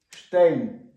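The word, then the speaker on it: Stein: СТ в німецькій мові читається на початку слова як шити або два корінних слова. Ее читається так само тичтейн. Гранітний камінь. Штейн камінь. Ханіштейн гранітний камінь. СП в німецькій мові на початку слова читається як ешп. Е, шпріг. Шпрехин. Штейн. Камінь. Штейн.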